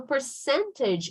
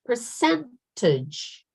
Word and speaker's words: percentage: Now, the word percentage. Not percentage. Okay, percentage. That's, I don't know, the Portuguese version, maybe, you know, thinking about Portuguese, we are trying to pronounce it, but that's not how you do it.